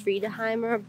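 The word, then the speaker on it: Friðheimar: well i think it's the restaurant is pronounced free toheimer um but it was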